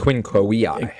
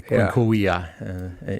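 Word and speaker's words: quinque viae: The quinquaviae. There it is, the quinquaviae. Even though it's spelled with a V, in Latin, V is W, like Yes, the German.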